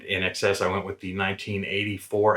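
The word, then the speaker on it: INXS: to be wrong and that band is inks's or as they're properly called in xs and in excess i went with the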